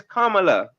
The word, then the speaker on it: Kamala: you cannot her name is her name is Kamala like say her name correct like why not